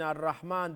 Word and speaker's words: Ar-Rahman: But one thing you forgot to mention, in Ar-Rahman, the Ra is full mouth because it's got Fatha on top, yeah?